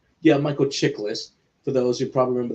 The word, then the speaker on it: Chiklis: Michael Chiklis. Yeah, Michael Chiklis.